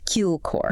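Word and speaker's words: དཀྱིལ་འཁོར: In Tibetan, it's Kilkor, often pronounced Kilkor.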